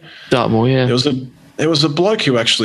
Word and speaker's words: Dartmoor: I mean, we're talking about before about Dartmoor, you know, saying, I think it's pronounce it correctly? Dartmoor, yeah.